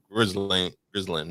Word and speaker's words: Ghislaine: Ghislaine Maxwell.